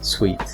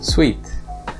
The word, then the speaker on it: suite: example a hotel suite suit is pronounced with the long oo whereas sweet primes with the taste sweet suit sweet the next pair is